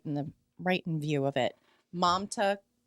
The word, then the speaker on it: Mamta: Mamta Kafle Bhatt is how I've heard her name pronounced.